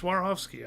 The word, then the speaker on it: Swarovski: or SWAT how do you say that yes Swarovski I did say it right um put all